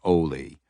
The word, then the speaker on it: Oli: Wading through the brush with her was the boy she knew as Oli, which she pronounced with a long O, rhyming with goalie.